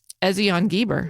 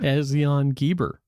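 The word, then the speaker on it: Ezion-Geber: You did good on the other pronunciation. Ezion Geber. Ezion Geber.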